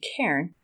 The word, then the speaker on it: cairn: Now, I think you also, is it a little bit of a play on word, and you're pronouncing it Karen rather than cairn? And is it like carrying the load?